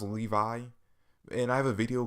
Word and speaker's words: Levi: on Titan chapter of people saying that I was pronouncing Levi wrong, which I understand. It's really pronounced Levi, and I have a